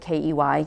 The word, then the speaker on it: ki: The fact that the word sounds like K-E-Y, key, made it even better